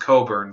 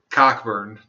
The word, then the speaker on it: Cockburn: And if Leslie Coburn gets into Congress, it says Cockburn, but I'm pretty sure it's pronounced Coburn because they wouldn't want to be called Cockburn.